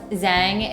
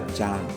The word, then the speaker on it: Zhang: And I think if you want to be precise, Ella Zhang. Zhang is her last name. Okay, thank you for helping me my pronunciation. Yeah, it's with a Z, ZH, so I said Zhang.